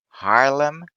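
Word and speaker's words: Haarlem: tier viii cruiser is harlem oh those a's together make a weird sound don't they um yeah i guess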